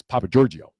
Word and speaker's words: Pappagiorgio: first name Giorgio but you got to say without the syllable break because it's pappagiorgio pappagiorgio you got it